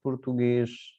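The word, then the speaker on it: português: हो रहे हैं, और यहाँ पे उच्चारण उसका स नहीं होगा बल्कि श, एस एच। तो हम लिखते हैं एस लेकिन उच्चारण होगा एस एच के रूप में। तो पुर्तगेस लिखा है हमने लेकिन पढ़ेंगे पुर्तगेश, और फ्रांसेस लिखा है हमने लेकिन पढ़ेंगे फ्रांसेस।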